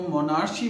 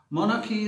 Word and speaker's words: monarchy: लेकिन अगर हम इस वर्ड को मोनार्ची बोलते हैं तो मोनार्ची या मोनार्की, these two, both of these pronunciations are wrong. Monarchy is a word, MONARCHY, monarchy।